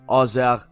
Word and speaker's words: Auxerre: It's Paris Saint-Germain versus AJ Auxerre. It's pronounced Auxerre.